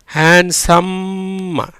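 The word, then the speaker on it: handsome: டிக்கு உச்சரிப்பு கிடையாது. SOக்கு என்ன பண்ணும்? ஓ சில இடத்துல ஆவாம் உச்சரிக்கப்படும் சொல்லியிருக்கேன். சா. எம்முக்கு இம். கடைசியில் வர்ற ஈக்கு உச்சரிப்பு கிடையாது. ஹேண்ட்ஸம் அப்படிங்கிற மாதிரி இம்முடைய ஓசை அதிகமாக உச்சரிக்கப்படும். ஏன்னா ஈ வந்தால் அந்த இம்முங்கிற குரில் நெடில் ஓசையில் உச்சரிக்கப்படும். அதனால தான் அந்த ஈ வந்திருக்கு. அந்த ஈக்கு உச்சரிப்பு கிடையாது, ரைட்டா?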